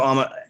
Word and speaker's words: Alma: I was doing my research, and you have Alma. I pronounced that correctly.